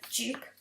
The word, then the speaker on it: Jupe: So obviously you're going to have Emily Blunt, Millicent Simmonds and Noah Jupe. I think that's how you pronounce his surname.